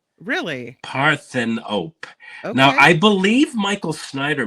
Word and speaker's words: Parthenope: these movies yeah this next one is called paropy actually it's oh God actually it's pronounced parthenope really parthan op now I believe Michael Snider might have reviewed